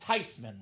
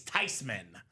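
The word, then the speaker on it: Theismann: It's actually pronounced Tyman, Robbie." So, the proper pronunciation, the German name is Tyman.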